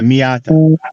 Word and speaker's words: Miata: Yeah, Miata. How do you spell that?